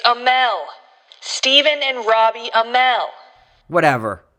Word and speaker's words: Amell: It's Amell.